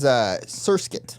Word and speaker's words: Surskit: That is Surskit. Some people were commenting and Yeah, wanted yeah, to hear yeah. that one. Yeah, it rhymes with foreskin.